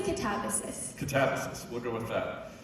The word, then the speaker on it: Katabasis: How do you say it? I say catabasis.